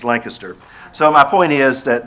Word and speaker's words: Lancaster: Harry but the town Lancaster not Lancaster it's Lancaster so my point is that there are shalis